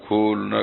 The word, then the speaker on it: کھلنا: کا ایک شہر ہے، ہم لوگ تو وہاں کھلنا کہتے ہیں، آپ لوگ کھولنا کہتے ہیں، تو بہرحال اب کس